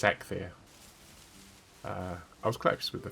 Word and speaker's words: Eikthyr: Is that how you pronounce it? Yes. No idea. I looked it up. It's Eikthyr.